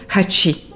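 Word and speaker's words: 八: caractère japonais appelé Kanji, représentant le chiffre 8 qui se prononce Hatchi.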